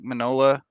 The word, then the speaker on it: Mignola: The creator of Hellboy, Mike Mignola.